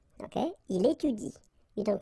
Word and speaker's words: étudie: should pronounce it like il étudie. Okay, so the last thing that you will pronounce will be the vowel I here. Okay, il étudie.